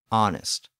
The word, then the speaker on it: honest: The problem was that silent H, which English had inherited from French in words like honor, honest, hour, and herb.